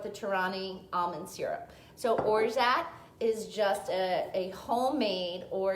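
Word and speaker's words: orgeat: tai is or or like o-r-g-e-a-t but you pronounce it like orza and the z is like zsa so origin or jets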